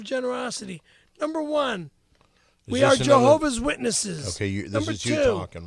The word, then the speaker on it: Jehovah's Witnesses: The Java witness. It's Jehovah's Witnesses. Just stop saying it wrong.